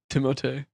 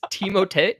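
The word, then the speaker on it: Timothée: Dude, speaking of French guys, did you know Timothy Shell, his name's not Timothy? No, it's Timote. It's Timote. Timote.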